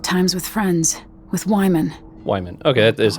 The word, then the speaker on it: Wyman: Wyman. Okay, that is how, that's how you pronounce it.